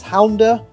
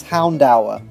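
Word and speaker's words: Houndour: the case this thing would evolve into Lucario Hound hour I've heard this said as hounder and hounder you could even argue that Hound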